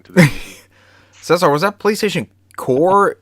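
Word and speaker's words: Qore: It says Core, pronounced Core, was a monthly subscription-based interactive online magazine for the PlayStation Network and replaced the jam-packed series Yep.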